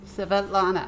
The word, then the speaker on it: Svetlana: Yes, Svetlana. I can't say it. Yes, that is how that is pronounced.